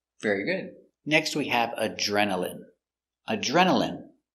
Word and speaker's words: adrenaline: Next we have adrenaline. Adrenaline. Remember, INE here is pronounced in.